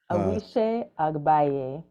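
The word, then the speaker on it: Awise Agbaye: So in your book, I'm going to mispronounce the name probably, but Awize Agabe Wande Amibola. Awishe Agbaye.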